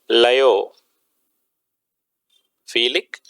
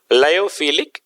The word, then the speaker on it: lyophilic: lyopholic lyophilic and lyophobic leo felix and lyophobic actually leo instead of leo lio is the correct pronunciation lyophilic and lyophobic collateral solutions